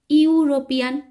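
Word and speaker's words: European: letter রয়েছে ই এবং এখানে উচ্চারণটা হচ্ছে ইউরোপিয়ান অর্থাৎ ইউর মত উচ্চারণ হচ্ছে তাই এখানে এন না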